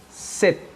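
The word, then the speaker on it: 셋: o som de s já se empregada no final da palavra ela produz um som de T como por exemplo set perceba escrevemos ces porém pronunciamos c a língua coreana não permite a reprodução do som do do s no final das palavras então por isso set set que é o número 3 em coreano o mesmo acontece com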